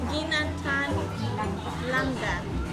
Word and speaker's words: Ginataang Langka: Ginataang Langka.